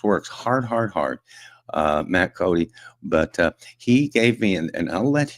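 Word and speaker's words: Coday: Oil and Gas Workers of America and his name's Matt Cody. Uh it's spelled C O D A Y and it's pronounced Cody.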